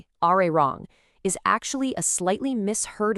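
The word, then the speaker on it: 아리랑: just naturally slides over and connects to the next syllable, irang, which makes it sound like arirang. The same exact thing happens with ala elio, turning it into arario. It's a natural shift in pronunciation over time.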